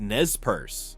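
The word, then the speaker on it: Nez Perce: It was carefully and purposefully developed by the Naz Persail tribe pronounced Nespers.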